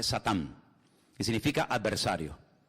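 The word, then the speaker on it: שטן: que viene del hebreo en hebreo no se dice Satanás dice satán que significa adversario y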